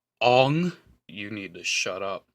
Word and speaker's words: Aang: Excuse me, it's pronounced Ong.